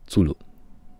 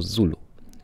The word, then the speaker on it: Zulu: Oczywiście chodziło o Zulu. Zulu. Jak słyszysz, nawet jeżeli wypowiadane to słowo jest w trochę inny sposób, ponieważ Niemcy mają tą tendencję właśnie do wymawiania czasami słów w ten sposób zaczynający się na Z, wiemy o co chodzi, ponieważ spodziewamy się tego.